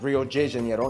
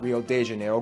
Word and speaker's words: Rio de Janeiro: That's right, it's pronounced Rio de Janeiro, not Rio de Janeiro. Get it right, we're not in Mexico, this is Portuguese, not Spanish.